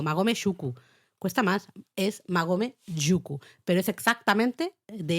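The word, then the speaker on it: 馬籠宿: os lo decimos ahora, tras una vocal, cuando lo siguiente empieza por consonante, suele haber a veces un cambio fonético, entonces no es Magome Shuku, es Magome Yuku.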